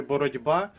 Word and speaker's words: боротьба: Наприклад, у слові боротьба ми пишемо літеру Т. а вимовляємо звук Д.